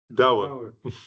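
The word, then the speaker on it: Douwe: How do you pronounce it? Da.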